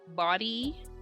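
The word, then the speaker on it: Bawdee: support yes i'm looking to her name is body by bree underscore on instagram bobby spell it because it's it's spelled b a w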